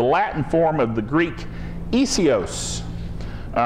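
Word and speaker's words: Iesous: So a transliteration is where you take isios, the way it's pronounced, and then spell it out as best you can in English, which would be I-E-S-O-U-S.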